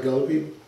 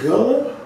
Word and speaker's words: Gullah: talking about my my galloping my people are girls so she said oh i'm so sorry she said that's how you say it she said it's gullah i said yes ma'am